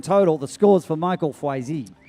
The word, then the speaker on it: Foisy: Hey, I like that pronunciation. Foisy. Gotta love that name. Foisy, yeah, Foisy.